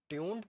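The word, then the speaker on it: tuned: तो सबसे पहले ट्यून ट्यून ट्यून्ड पर प्रोनाउंस्ड एज ट्यून डी, ठीक है। ट्यून जो है उसको प्रोनाउंस कैसे कहते हैं, ट्यून डी के साथ, ठीक है। ट्यून इज a system tuning, is for system tuning, and डी इज for demon, ठीक है।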